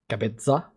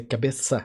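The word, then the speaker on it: cabeça: It's almost the same way you say it in Spanish, cabeza, but we say cabeza.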